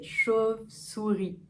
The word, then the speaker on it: chauve-souris: Donc, chauve, c'est assez ouvert. Le O est assez ouvert. O, chauve, chauve-souris. Pour moi, il est assez ouvert. Peut-être que pour d'autres, ce sera plus chauve, un chauve, une chauve, souris. Chauve, sous, vers l'arrière, ré. Une chauve-souris. Le mot suivant, c'est excentrique.